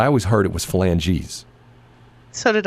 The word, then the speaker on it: phalanges: Third phalanges to Stan Kroenke, right?